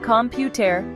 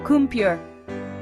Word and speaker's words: computer: Take the word computer. Instead of saying compare with every syllable stressed, try saying it the way native speakers do, kure. Notice how the middle syllable almost disappears. That's called vowel reduction and it's super common in English.